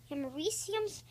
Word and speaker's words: americium: You can pronounce it either. Okay, so americium's atomic number is 95.